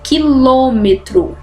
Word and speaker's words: quilômetros: tá Então olha aí quilômetros quilômetros né a sílaba tônica última penúltima antepenúltima que é a forte por isso ela é acentuada por que ela é uma proparoxítona árvore árvore Olha aí